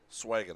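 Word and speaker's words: Sveeggen: Swagen is spelled S-V-E-E-G-G-E-N. So I think we'll say Swagen.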